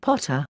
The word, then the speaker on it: Pater: par Thor Jove and Pater pronounced Potter Europa a moon in